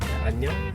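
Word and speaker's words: 안녕: Annyeong.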